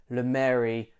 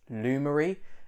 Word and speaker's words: Lumary: are going to hear lemary a lot in this video i can only apologize i didn't have any common sense to realize that yeah it should be pronounced lumery um to illuminate things